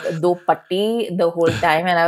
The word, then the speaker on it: Do Patti: Also, I want to say that, the way that Do Patti is written is Patti. And in Malayalam, we do have a word that is like Patti, but we pronounce it as Patti, which means dog.